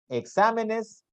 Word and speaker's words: exámenes: Tienen la mayor intensidad en la antepenúltima sílaba y siempre llevan tilde. Por ejemplo, tenemos amábamos, exámenes, filósofo.